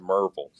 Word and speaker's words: Maryville: One, it is spelled Maryville, but if you live in Knoxville, it's called Merville. So, Merville. So like most of the natives in East Tennessee call it Merville.